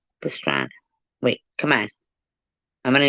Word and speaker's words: Pastrana: His name sounds like pastrami. I don't think I say it right. Pastrani? Pastrana.